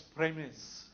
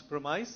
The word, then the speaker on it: premise: native speaker pronunciation is fourth word from ice well its premise so that disappoints me because it's a simple word right but all over media for instance it becomes promise and promises no premise premises simple